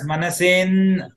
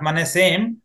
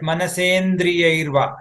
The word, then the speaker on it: Manasendriyairva: You are going to pronounce it as Manasen, not Manasem, but Manasendriyairva, isn't it?